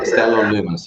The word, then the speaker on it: Stellar Lumens: Sorry, I couldn't get how you pronounce that. Stellar Lumen? Or? Stellar Lumens, yes.